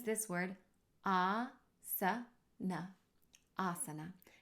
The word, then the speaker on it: āsana: a long way so asana is how you pronounce this word not asana and we use this diacritical mark to transliterate the word asana you can see there's a line above the first letter a and that line means that that sound is a long a sound ah like the English word father and if you see